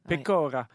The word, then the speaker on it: pecora: C'est brebis, pecora. Pecora. Excuse-moi pour le... Oui, l'accent tonique sur la première.